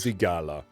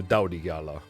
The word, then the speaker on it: Dalthigala: the word Thor, but it's also usually pronounced as what's known as like a hard TH, like starting of the. So it's it's that sort of sound. So it's Dalthigala, but it's also Daldigala.